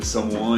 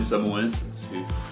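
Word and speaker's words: Samoëns: Ouais, c'est comme le Samoin et Samoens, faut pas prononcer toutes les lettres comme dans le sud ici, sinon on se fait taloche la gueule.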